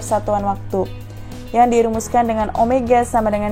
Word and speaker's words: omega: yang disimbolkan dengan Omega seperti huruf w namun dibacanya Omega kemudian digerakkan linear atau